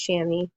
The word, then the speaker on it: chamois: how it's pronounced as chamois I know it's spelled like some crazy French word but pronounced chamois silk or a nylon